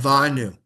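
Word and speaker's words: גאוונו: Okay, so You have a silent letter yeah. with a silent vowel. It's a little tricky, but gavanu, you would kind of make a little guttural sound almost. Gava, with your throat.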